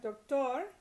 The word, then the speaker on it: doctor: not N or S, like doctor, then the naturally occurring stress is on the last syllable.